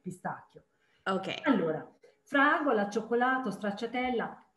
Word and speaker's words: pistacchio: every time you have CHI is always like a K, pistacchio.